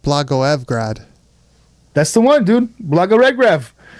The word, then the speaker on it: Blagoevgrad: So apparently it's pronounced Blagoevgrad.